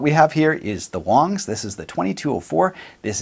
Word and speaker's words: Wangs: much here we go Wang's is actually pronounced Wong's it's the most common last name in China and the name of their creator so there you go it's not actually Wang's it's Wong's right so